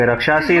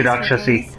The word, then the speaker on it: Rakshasi: Okay, Rikshasi is actually Rakshasi.